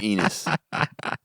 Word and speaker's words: Enos: Tom Enos. Rhymes with penis.